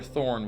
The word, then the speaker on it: Thorne: that's true um dr thorne was called up he was supposed to investigate the area while he was investigating doctor did you say doctor thor thorn oh there's t-h-o-r-n-e and there's a silent e okay okay horn thorny